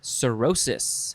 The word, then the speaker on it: cirrhosis: find a good one uh okay next is cirrhosis h c-i-r-r-h-o s i s cirrhosis noun from